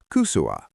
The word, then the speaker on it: kysyä: If you're asking for information, we use kusua.